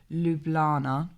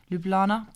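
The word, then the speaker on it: Ljubljana: in the capital of lublana i think that's how you pronounce it lublana please correct me in the comment section if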